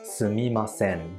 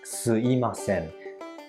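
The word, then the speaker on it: すみません: ask someone for something it's pronounced correctly as sumimasen but people pronounce it more often as suimasen this is a null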